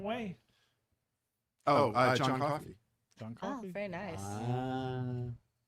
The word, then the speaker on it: Coffey: Like the drink, only not spelled the same way. Oh, John Coffey.